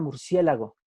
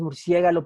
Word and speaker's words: murciélago: lo pienso mucho con la palabra murciélago que originalmente se decía murciégalo y cuando éramos niños en mi tierra en mi tiempo decíamos murciégalo por no saber pronunciar la palabra nos decían dilo bien